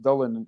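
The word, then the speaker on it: Dullan: But apparently the fishermen, there's an area, but they call it Dullen, just along the river. It's pronounced Dullen if you're a fisherman.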